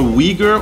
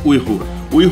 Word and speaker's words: Uyghur: today we are making lman lman is a weager or usek dish most people say weager but it's actually pronounced Ur food you already lost me okay let me